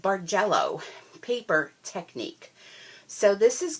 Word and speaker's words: Bargello: share is the and I believe it's pronounced bar jello paper technique so this